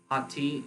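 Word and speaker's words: hoti: Hati is a word in Greek. It's actually 3 letters instead of 4. We transliterate it as hati. It's how it's pronounced.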